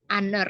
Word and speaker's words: honor: dengan en dibandingkan karena saat pengucapan kata honor ini lebih terdengar seperti huruf vokal karenanya lebih menggunakan pen